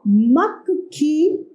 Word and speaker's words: मक्खी: म आधा क आधा क और खी तो मक्खी मक्खी। जब आधा अक्षर आता है तो उसे थोड़ा सा कम बोला जाता है।